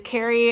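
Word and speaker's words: Kari: My name is Carrie. It's spelled K-A-R-I though. So it's like, it's kind of like Carrie Bradshaw, but also, unique because it's not like the typical spelling of Carrie.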